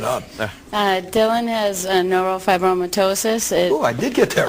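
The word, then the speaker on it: neurofibromatosis: Uh Dylan has a neurop fibromyitosis. Oh, I did get that right. He's just But I got it. I pronounced it right.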